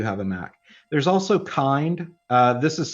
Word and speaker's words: kind: There's also Kind. This is spelled out Kubernetes in Docker, but you'll see it often referred to elsewhere as Kind.